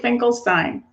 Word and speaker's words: Finkelstein: Am I pronouncing it right, Sarah? That's right, Finkelstein. Finkelstein.